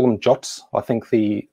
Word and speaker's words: JWT: people will call them jots i think the the official specification says the pronunciation of jwt is jot i personally have a